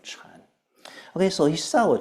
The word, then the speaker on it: Chan: Chinese word for Zen Zen is the Japanese pronunciation of Chan okay so he saw